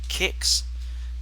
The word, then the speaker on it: Qix: a certain enemies and this is called kicks it is spelled qix and you must avoid